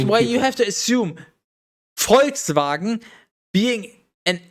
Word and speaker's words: Volkswagen: be like okay yes english people we pronounce it fox wagon but if you want to be accurate just like you know pronouncing geria as gorilla is wrong but sure people will know what you mean it's volkswagen if you